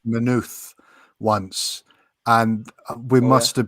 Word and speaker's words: Maynooth: There's half an O in it. It's spelt with two O's, but it's actually half an O and a T and half a H. Just like Jack said it.